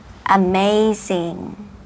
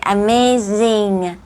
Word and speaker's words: amazing: ชัด เลย คำ ว่า Amazing Amazing นะ คะ อ่า โอเค Amazing โอเค เงอ ๆ ตัว G ข้าง หลัง อย่า ลืม ออก เสียง ด้วย นะ คะ คำ ถัด ไป superb